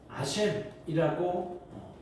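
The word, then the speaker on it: אָשָׁם: 속건제는 히브리어로 아셈이라고 읽습니다.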